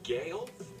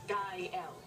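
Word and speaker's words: Gael: his name got in I'm sorry Gail Kyle girl it's pronounced guy l it means joyful that is why I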